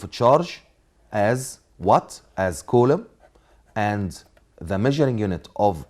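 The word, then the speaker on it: coulomb: of a charge is colum is colum B is silent Colum colum and the measuring unit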